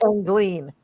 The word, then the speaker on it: Angeline: I believe it's pronounced Angline. Okay. Angeline. Okay, you are correct.